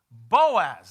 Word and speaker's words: Boaz: say his name was how do you say it in your Hebrew tongue Buzz and the booze Boaz that's it Naomi hears the name ringing in her ears she knew Boaz her an Olympic had